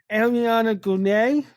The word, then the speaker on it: Ariana Grande: I think they pronounce it Ariana Grande.